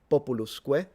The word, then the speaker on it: populusque: Populusque, all short vowels, because if you say populus with a short vowel, it's people. If you say populus, it's the poplar tree, but this is supposed to be pronounced Romanus.